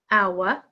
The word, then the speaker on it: hour: it's a silent T number eight our hour silent h number nine kn again